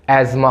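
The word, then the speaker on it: asthma: इसी तरह अस्थमा नहीं होता है। एजमा होता है।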